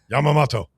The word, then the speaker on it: Yamamoto: It's Yamamato, the pitcher for the Dodgers related to Admiral Yamamato. I say again. How do you say that? What? Yamamoto. I I don't think you can do that, Barrett.